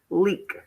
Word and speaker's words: leak: when we digraph this we mark out the a and give that a macron so we know the a is silent and it's a long e le eek leak okay when we do